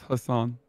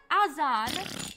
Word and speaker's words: Hasan: see it's true that it's pronounced assham no it's hassan hassan how can azan be pronounced hassan that doesn't make any sense my name is h-a-s-a-n not a-z-a-n why did he keep